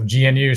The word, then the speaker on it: GNU: Like they call it GNU. That's the way they pronounce it.